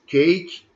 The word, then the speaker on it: cake: not pronoun there is cake have one syllable because the letter e is not a pronoun in the in the words happy happy to have